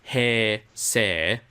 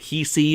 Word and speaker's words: Heisei: interesting so yeah because its hei sei it hey say hey say yeah but before I came to Japan I also had a lot of confusion over how to pronounce that it was like he see hi CH see who say what say yeah yeah like